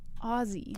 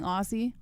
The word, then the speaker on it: Aussie: Say it as if it has Z's in it. That's so weird that it's spelled with S's, but you pronounce it with Z's. Yeah, I didn't know that either. Aussie.